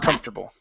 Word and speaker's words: comfortable: but the ORF tur the f is not pronounced I'm comfortable comfortable comfortable ok very good ok now the